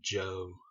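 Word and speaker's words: Zhou: to as the eastern joke dynasty or the joke rulers it looks like as you but it's pronounced Jo like GI Joe Joe or Joe and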